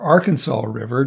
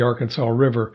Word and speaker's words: Arkansas: The Arkansas River, or Arkansas River, depends on where you're from, how you pronounce it. In Arkansas, they call it the Arkansas River.